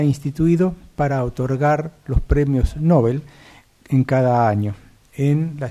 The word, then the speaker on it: Nobel: Que nosotros usamos ampliamente la palabra como Nobel, como si tuviera acento en la O. Pero, según los escritos que nos llegan también en los diccionarios académicos, dice que en Suecia el nombre suena como Nobel y que traducido sería